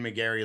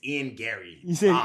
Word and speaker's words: Garry: to this obviously in McGary lost it's his first lost you say his name wrong too now why you said McGary that's his name no it's it's Ian Gary stop stop stop stop